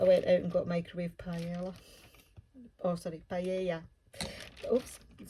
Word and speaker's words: paella: oops i'm sorry thing paella should i say um my son did spanish at school and he told me off for saying paella instead of paella i probably even still pronouncing it wrong anyway um so yeah